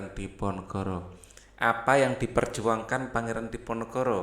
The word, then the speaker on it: Diponegoro: Hai Haryo Hai Diponegoro yang biasa kita Dipanegara ya pulsanya Oh ya kalau seperti orang Jawa bacanya Diponegoro Libya Pangeran Harya hai